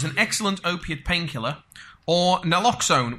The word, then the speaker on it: naloxone: They would either have salt water, a placebo, fentanyl, which is an excellent opiate painkiller, or naloxone, which I keep mispronouncing as naxalone, so if I fall over and spoonerize that, please forgive me.